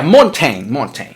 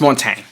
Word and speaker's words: Montaigne: And the next one is On Friendship by Montaigne. Is that how it's pronounced? Man, I gotta look it up. I always mess up the pronunciation for Montaigne. Let's see. Yeah, Montaigne. There you go. It's pronounced Montaigne.